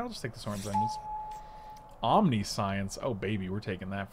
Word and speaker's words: Omniscience: and omniscience comes back okay stop calling it omniscient it's it's pronounced omniscience guys just in case you were this pack's